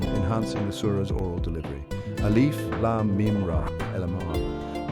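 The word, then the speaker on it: الم: Lam MIM LM pronunciation pronounced as three distinct letters alif Lam MIM rhythmic impact creates a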